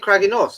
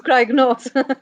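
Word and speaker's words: Craig-y-Nos: How do you say it, Vicky? Craig and North. Craig and Noss. She says it better. She says it better, Dan. Yeah, but she's Welsh. So it's Craig and North.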